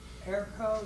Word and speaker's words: ERCO: And I'm looking at the training through ERCO. That's a E R Ko International. Am I spelling pronouncing that right?